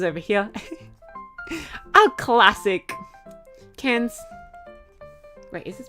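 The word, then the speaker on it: Cairns: A classic cans. Wait, is this spelled with an E? No, it's not. Well, cans. And it's not K. Don't pronounce the R. cans like a tin can of fish.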